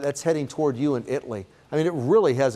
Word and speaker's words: Italy: Italy's at 1228. And if you're new here, it is Italy. It's not any other pronunciation.